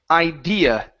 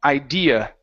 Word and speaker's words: idea: Up here, we have the word idea. So pronounce an sound at the end. Idea. Idea. Okay, give me a D instead of tia.